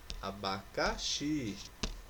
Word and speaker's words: abacaxi: Nós temos as palavras dominó, abacaxi. Então o nó e o xi são sílabas tônicas.